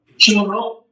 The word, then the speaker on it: shuruk: Shuruk. It is Shuruk. Shuruk. Shuruk. it's your surik, which means the vav is silent. You don't pronounce it. It's a placeholder. It's just a U.